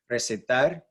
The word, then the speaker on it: recitar: Recitar, tar is where the stress syllable is. It's the last syllable, which is where it should be since it ends with an R and not a vowel, N or S.